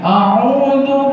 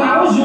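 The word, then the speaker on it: أعوذ: Saya dulu baca begini, A'udzu billahi minasyaitonir rajim. Dibenerin sama ustadznya. Jadi bukan a'udzu, tapi bacanya a'udzu.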